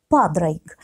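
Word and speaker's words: Pádraic: Более точное произношение ирландского имени героя – Падрайк.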